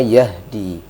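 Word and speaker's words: يهدي: ya pertama Ya ini Yahdi ya tadi dibaca dengan ha yang kecil ya Yahdi harusnya Yahdi karena makhrajnya itu memang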